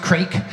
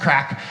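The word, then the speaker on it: craic: And it's pronounced crack. It's not pronounced crack. It's pronounced crack. It's a Scottish Gaelic word.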